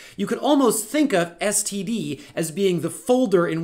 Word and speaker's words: std: colon c out and there is a pretty substantial school of thought that when we see this token here they want to pronounce that like a word i don't know how to pronounce words that don't have vowels and so i just spell it out scd colon colon std